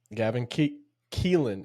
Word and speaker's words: Gavin Keelan: Gavin Keelan is how you say his name.